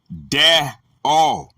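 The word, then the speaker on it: δέω: The word is dio, pronounced de-o, a primary verb, to bind, in various applications, literal or figurative.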